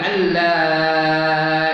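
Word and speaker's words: أن لا: Nun tu mati jumpa dengan lam dia tak ada bunyi. Ejaan ada, kata bunyi tak ada. Asyhadu an la ilaha illallah.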